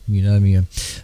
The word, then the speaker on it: pneumonia: I always get tossed over that one because it's got a P on the front of it, which you don't pronounce, pneumonia.